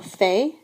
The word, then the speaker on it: fait: The forms of faire are je fais, tu fais, il, elle fait. Sounds the same, but remember it's spelled with a T.